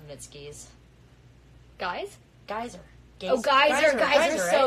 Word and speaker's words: Geyser: Oh, Geyser, so right? Good. Yeah, Geyser. I was like, am I pronouncing it wrong?